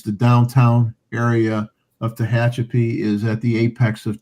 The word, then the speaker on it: Tehachapi: And thankfully, he spelled it out how to say it so I wouldn't screw up Tehachapi, because otherwise I probably would have.